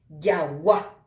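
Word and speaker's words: jagua: Yagua. Apeche ha'ehína a pronunciar la intensidad sobre la A.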